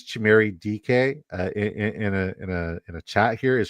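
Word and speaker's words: Dike: when I did it, how do you pronounce it? It's DK. Huh?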